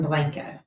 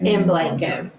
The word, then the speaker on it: Blanco: Texas because we pronounce it like Blanco instead of Blanco. Instead of what? Blanco. Blanco is the way it's said in Spanish.